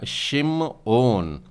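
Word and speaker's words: שמעון: पर उच्चारण में आप इससे कैसे बोलेंगे हेबर उच्चारण होता है इसका सिम ऑन सिम ऑन याकूब का तीसरा पुत्र और उसे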